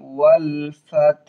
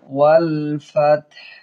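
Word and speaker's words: وَالْفَتْحُ: খারা জবর আছে আসরুল্লাহি ওয়ালফাত ওয়াল ফাতহ হা উচ্চারণ হবে ভিতর থেকে একটু ওয়ালফাত তবে পুরোপুরি হা যেন শোনা না যায় ওয়ালফাত ওয়ালফাত কিভাবে উচ্চারণ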